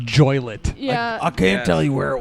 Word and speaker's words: Joliet: Jimmy Hoffa's bear it's pronounced joy lit I can tell you